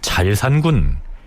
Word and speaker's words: 자을산군: 훈민정음의 발음상 새을자가 리을 발음 역할을 하는 것으로 파악을 하면 잘산군 이렇게 칭해야 한다는 견해가 지배적입니다.